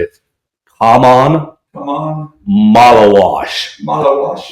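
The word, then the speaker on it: Maluach: Malawash. Like you're washing your.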